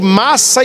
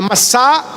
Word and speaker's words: Massá: É por isso que aquele lugar, Moisés colocou o nome de Massa e Meriba. Nas leituras geralmente a gente lê Massa e Meriba, mas a pronúncia certa é Massá e Meribá.